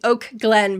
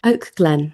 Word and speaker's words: Oak Glen: I was just pronouncing Oak Glen because sometimes people think I'm saying Oakland and I'm not going to Oakland. Oak Glen.